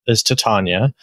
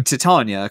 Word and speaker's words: Titania: So I think the agreed upon pronunciation is Titania, because that's how it's pronounced in Shakespeare.